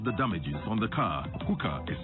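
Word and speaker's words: Huca: Hooker is spelled H-U-C-A.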